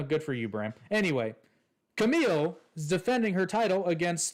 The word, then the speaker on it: Camille: fans off anyway I I think it's pronounced Camille but it might be Camilla no it's Camille a Camille okay I